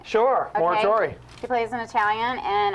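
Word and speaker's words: Mauro: also from the show no Mike Plays Kenny moror am I saying it right sure moror she plays in Italian and uh Jamie plays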